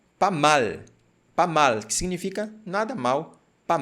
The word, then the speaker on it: pas mal: E quando nós observamos aqui a transcrição fonética, você percebe que eu coloquei a sílaba tônica aqui, ó. Pas mal. Mal. Em português, nós não temos nenhuma palavra onde a língua ela fica em cima, dobrada.